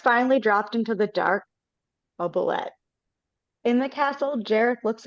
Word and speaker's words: oubliette: Sarah's finally dropped into the dark oubliette. In the castle, Jareth looks into the crystal and sees Sarah is in the oubliette. Am I saying that right? I don't know. She's in the oubliette.